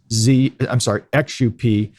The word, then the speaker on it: Xup: We bought another fintech company just last year called Xup, spelled XUP, but pronounced Xup.